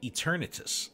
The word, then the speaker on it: Eternatus: No, I would say like eternity. So Eternatus.